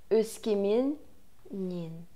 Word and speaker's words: Өскеменнен: И не бойтесь того, что звук у нас удваивается. То есть, если слово заканчивается на «м», вторая «н» никуда не деется, от окончания удваивается, и при произношении это тоже заметно.